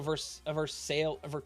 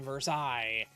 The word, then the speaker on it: Versailles: Like they say Missouri and Versailles. It's like it's Missouri and Versailles. It's pronounced Versailles in Kentucky too.